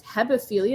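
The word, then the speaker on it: hebephilia: different oh have a philia is early teens hepophilia is how you say it degenerate is what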